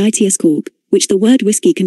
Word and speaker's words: Yitzchak: If the name of Jacob's father survived from the sound of pronouncing his name, then it would have sounded more like Yits cork, which the word whiskey